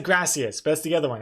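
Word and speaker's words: grazie: Graatia, not E. Gratia. Graatia. Wait. Okay, now I'm curious. I'm cur curious. Uh, thank you in Italian. Gracia.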